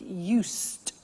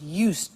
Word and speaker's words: used: speaking Italian every day listen to the pronunciation I said used with t sound used not used or used that's very important to distinguish it from the other verb use okay used the next